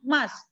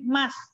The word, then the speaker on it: must: Kalau yang sunnah yang should apa yang must? Yang wajib yang mana? Yang sunnah yang mana? Mas apa artinya mas? M-U-S-T. Mus, kamu bacanya mas. Nggak boleh bacanya mus ya. Bacanya mas.